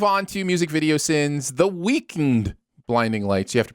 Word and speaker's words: The Weeknd: right let's move on to music video sins the weakened blinding lights you have to pronounce it that way the weeknd yeah there's